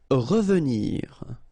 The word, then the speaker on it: revenir: Revenir, okay, remember that is pronounced really like a. Revenir, revenir.